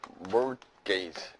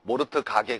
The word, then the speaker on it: mortgage: 이건 뭐냐면 mortgage. T가 묵음이에요. T가. 알겠죠? 모르트 가게 그러지 말고 알겠어요, 여러분? 그래서 이게 mortgage가 되는 겁니다.